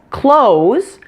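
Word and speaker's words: clothes: about American English today the pronunciation is super easy it's exactly the same as close as in close the door CL OS e notice you do not need to pronounce the th sound at all in this word there is one thing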